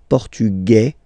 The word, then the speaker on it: portugais: Masculine, portugais, you don't pronounce the s.